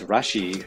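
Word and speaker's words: ラッシュ: the Japanese language uh rush and Lassie are actually pronounced very similarly which um it's one of those translation things doesn't make sense until you actually hear it sounded out but Rush is Rashi and Lassie is lashi so it's pretty much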